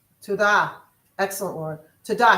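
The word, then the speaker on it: תודה: Tada. Tudah.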